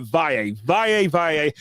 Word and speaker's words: Valle: I know it looks like one pronunciation, but Valle.